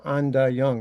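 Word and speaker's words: Ain Dah Yung: And then the following year, I got a job at this place called Anda Young. It's spelled AIN.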